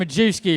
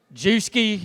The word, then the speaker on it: Majewski: mr majewski your principal sometimes i go buy or or juski if people are too lazy to add the extra syllable at the beginning of my name so welcome class of